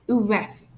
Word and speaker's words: ouest: For example, the exceptions are ouest, which means west. Sud, sud, which means south. Ouest, sud, est, which means exceptions means under these exceptions we pronounce the letters D and T. But most of the time when the two letters D and T are at the end of singular nouns, we don't pronounce it. But these three words are some exceptions.